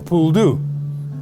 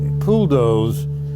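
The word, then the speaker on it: poule d'eau: Pool dough, which is that's how it's pronounced correctly in French, has been bastardized to become a pool doux.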